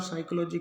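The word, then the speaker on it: psychology: बाद एस हो तो पी रहेगा साइलेंट ये ध्यान रखना है कि पी के बाद एन है निमोनिया के अंदर और साइकोलॉजी के अंदर पी के बाद एस है तो एक बार फिर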